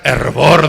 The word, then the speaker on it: fervor: época hace 500 años la f se pronunciaba como H entonces Santa Teresa decía que el Cristiano tenía que tener hervor de espíritu el espíritu de un